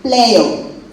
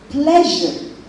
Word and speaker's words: pleasure: I have heard a lot of Nigerian speakers of English say player. Please, let us not pronounce it that way. If you go and say player, I used to wonder, is influence again, if you find that it's influence from their mother tongue, player is wrong pronunciation as far as this English word is concerned. It's pleasure. That's the correct pronunciation.